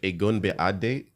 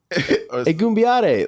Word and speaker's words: Egunbiade: How I said his last He name? was like Agunbiade. Egunbiade. Like that's how you say his name, right?